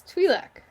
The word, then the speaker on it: Twi'lek: No, it's Twi'lek.